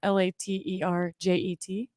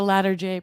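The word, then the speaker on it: Latarjet: shoulder procedure that's spelled l-a-t-e-r-j-e-t looks like later jet oh it's called a ladder j procedure don't look how fancy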